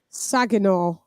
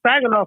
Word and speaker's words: Saginaw: Look, it's he's from Saginaw, if that's how you pronounce it. Oh, Saginaw. Oh no, Saginaw.